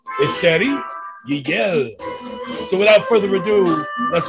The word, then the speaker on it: Chéri Yielle: But like I love how you say it. You have to say it that way now. You got to, man, because that's how you pronounce every syllable.